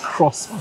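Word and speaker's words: croissant: have some latte and crant the tea silent crossant the tea is silent and for those of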